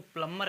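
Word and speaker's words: plumber: और ये लिखा हुआ पी एल यू एम बी आई आर ठीक है तो इसको प्लंबर कहते हैं प्लंबर प्लंबर नहीं कहेंगे बहन कहेंगे ठीक है प्लंबर प्लंबर का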